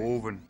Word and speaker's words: Hoven: yet no Oren okay Oren so it doesn't rhyme with oven cuz it's felt like oven with a h we're done here we